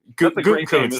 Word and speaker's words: Gutekunst: or whatever the hell, however the hell you pronounce his name. Gutekunst, thank you.